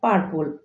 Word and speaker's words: purple: এটার উচ্চারণ করি আমরা পার্পল, PURPLE, but correct pronunciation হবে পার্পল। পার্পল। My favourite colour is পার্পল। My favourite colour is পার্পল। এখানেও আর এর উচ্চারণ হবে না।